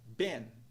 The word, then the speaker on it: been: A palavra been, a gente vê aí no padrão de pronúncia o som de vogal I curva, que soa como E.